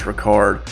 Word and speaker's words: Richard: I know it looks like Richard, but I'm pretty sure it's pronounced Ricard.